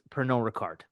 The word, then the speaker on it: Pernod Ricard: But of course, what I'm interested most about when it comes to your work is Pernod Ricard.